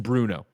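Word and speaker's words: Brno: 1988 who says greg the city in the czech republic is pronounced bruno thank you that is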